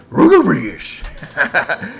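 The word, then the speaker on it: Runerigus: We got a Runarigus here in the lead here. Gotta say it like Scooby-Doo. Runarigus.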